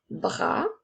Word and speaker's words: bras: Je continue maintenant avec un bras. Alors, donc, le mot un s'écrit UN. Ensuite, nous avons B, R, A. Attention, le son A s'écrit avec un S qui est une lettre muette.